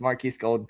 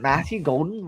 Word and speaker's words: Matthew Golden: now, but like, who the hell is Maris Golden? Dude, I just was going with it. I'm like, that doesn't sound right. But then I got confused when I went to say his name. I'm like, Is it Matthew Golden? Like, why does that sound It's Matthew. It's It's Matthew.